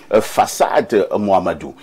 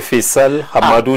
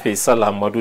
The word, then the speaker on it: Faisal Hamadou: Il s'agit de Fassad Mohamedou. J'espère que je prononce bien. Pas tellement. Mon nom c'est Faisal Hamadou de Meissala. Faisal Hamadou de Meissala.